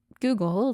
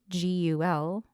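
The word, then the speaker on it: Guggul: Some examples include, and I am going to totally butcher these names, Jatamansi, not Google, like the search engine, it's Gugul. It looks like you say it Google.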